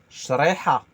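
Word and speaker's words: شريحة: Essayez de le dire en 3 phases. Sh, Re, ri. ha. Ah, oui, parce que moi, j'ai pas de difficulté avec le R roulé, mais l'associer au sh, r, a, shriha, Parfait.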